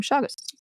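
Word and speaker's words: Chagas: Shagus disease was formally discovered by Brazilian physician and microbiologist Carlos Shagus, which makes sense because name Shagus. It's a soft ch.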